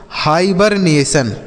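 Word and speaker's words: hibernation: तो ये हो गया Haber. H आई बी इ R Haber. N ए से पढ़ेंगे ने। और टी आई ओ एन को हम पढ़ेंगे सन। तो लिखा गया बच्चों हाइबरनेशन।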